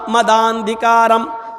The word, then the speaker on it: मदांधिकारम: और जब एक साथ मिलाकर पढ़ेंगे तो उसका उच्चारण, तलफ़ुज़ कैसे होगा? प्रोनाउंसिएशन उसका क्या होगा? मदांधिकारम। मदांधिकारम आ गिर जाएगा और वो आ की आवाज दा में बढ़ जाएगी।